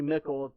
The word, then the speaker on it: Mikkel: elected Howard Mikkel and it looks kind of weird mich al it's actually Mikkel rhymes with nickel that's when they actually